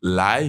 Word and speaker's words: 来: Donc lai finalement c'est venir, c'est au deuxième ton.